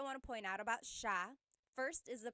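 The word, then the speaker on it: siya: to point out about sha first is the pronunciation it looks like it should be pronounced but it's actually pronounced sha sha so the s i y it's a sha sound sha And then another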